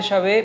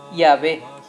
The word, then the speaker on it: Yahvé: Por otro lado, tenemos los testimonios de los samaritanos del siglo V a.C. que sí pronunciaban el nombre de Dios como Yahvé, ¿sí?